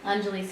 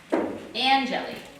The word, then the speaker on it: Anjali: Anjali's face got hot. Now how's he saying her name? Anjali.